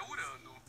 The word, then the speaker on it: Urano: Baixar o volume, tá atrapalhando o strike do Urano. Na verdade, a pronúncia é Urano.